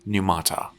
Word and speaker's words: Numata: survival horror IP called numata kind of pronounce it like pneumonia who am I teaching